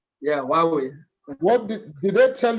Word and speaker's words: Huawei: digital energy in huawei sometimes i'm afraid to pronounce the name of your organization samuel huawei right right does that sound chinese or english is that chinese or english of course is chinese why are we why we that's actually the right pronunciation yeah why we what